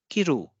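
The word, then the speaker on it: 着る: And if we give stress on the second syllable, it will be pronounced as kiru.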